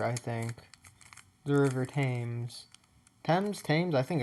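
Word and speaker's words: Thames: I know it's not Tames. I'll look it up after this recording. But let's get started. But yeah, I do know it's not ths like how it's spelled. It's it's it is the t sound.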